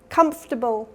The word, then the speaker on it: comfortable: Comfortable has first syllable stress.